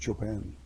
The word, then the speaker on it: Chopin: But in classical music, that would be pronounced Chopin.